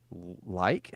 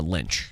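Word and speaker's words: Leitch: And then David Like, is that how you pronounce his last name? Uh, Lynch. Yeah, there's no way it's Lynch. It's L E I T C H.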